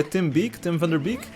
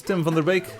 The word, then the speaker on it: Tim van der Beek: game was composed by Tim van der Beek, if you pronounce his name in English. In Dutch it's Tim van der Beek.